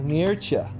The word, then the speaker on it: Mircea: we are talking to the one and only mircha did I say it right I always screw